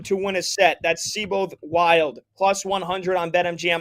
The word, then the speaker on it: Seyboth: Thiago Seyboth, it's spelled Seyboth Wild. It's pronounced Seyboth, but Thiago Seyboth Wild.